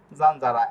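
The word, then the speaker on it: zanzara: এর মত হবে আর দ্বিতীয় নিয়মটি হচ্ছে শব্দের শুরুতে যদি জেতা অক্ষর থাকে আর সিললাবা এর পরের অক্ষর যদি পি সিটি এফ এ না হয় তাহলে জেতা অক্ষরের উচ্চারণ জ এর মত হবে যেরকম জানজারা এরপর ভার্বের শেষে যদি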